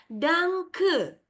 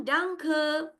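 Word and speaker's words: Danke: Jadi dalam bahasa Jerman terima kasih adalah dangke. Ya, silakan ucap ulang dangke.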